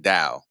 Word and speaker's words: DDAWL: So we call it DAO. People say Okay, DAW, but no, I pronounce it since I made it up. It's DAO.